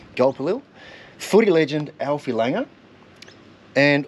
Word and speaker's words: Gulpilil: Some Crocodile Dundee actors, Ernie Dingo, David Gulpil. Is that how you pronounce his last name? Gulpilil. Gulpilil.